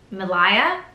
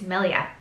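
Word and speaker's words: milia: time I was actually pronounced it I was pronouncing it Malaya and that's not it's Millia okay great welcome to my life but that's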